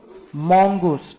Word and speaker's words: Mongoose: ठीक है, घर पे भी अगर स्टडी कर रहे हो तो प्रोनाउंस करते वक्त क्या प्रोनाउंस करोगे, मॉन्गूस. ठीक है, मुंगूस मुंगूस मत बोलना.